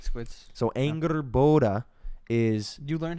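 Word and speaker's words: Angrboda: revealed is one of the last giants that's ingerborda is her name um on top of all that's how you pronounce it on top of all that there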